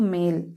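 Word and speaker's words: male: पढ़ना है मेल है तो ये जो ई है ई का हम लोग उच्चारण नहीं कर रहे हैं एम ए एल ई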